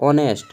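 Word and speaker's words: honest: sorry वोल आता है हालांकि यह वर्ड जो है हमारा कंसोनेंट है लेकिन हमारा प्रोनाउंस कैसा हो रहा है ये एक वोल साउंड दे रहा है ऑनेस्ट ठीक है तो यहां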